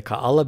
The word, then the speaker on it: Kaala: a longer vowel sound one example of several alternatives to write and pronounce kaala would be ka-a-la i have chosen ka-ala because none of the documentation for the name of the pepper by the university of hawaii has included special characters back to the process